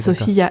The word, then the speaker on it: Sofyia: a le le y et le i c'est sopia et aussi c'est toutes les sopia du Liban ça s'écrit comme ça c'est libanais ok d'accord donc